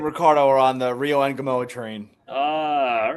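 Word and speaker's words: Ngumoha: Engamoa.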